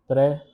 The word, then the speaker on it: préférer: Pronunciation is préférer.